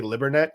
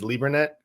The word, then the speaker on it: Lieberknecht: So there's two ways they do it. It's I say Libernet because I say it like my grandpa did. She says Liebernet because of the German piece of it.